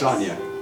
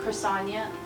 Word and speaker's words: Crysania: Oh, like Crystal? Or like Chris? Chrisania. Chrisania.